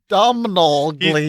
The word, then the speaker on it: Domhnall Gleeson: It's Oh, it pronounced is. like Donald. Yeah. Don't know. Whoa. It's a name he said. Whoa. Domhnall Gleeson.